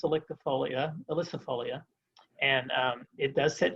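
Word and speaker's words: ilicifolia: kind of pale yellow is a cherry it's pronounced electrifolia elysifolia and um it does set cherries on it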